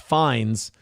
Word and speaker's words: Fiennes: The first name Ralph uses the Old English pronunciation Rafe, and the last name Fiennes is, Fiennes is pronounced Fines.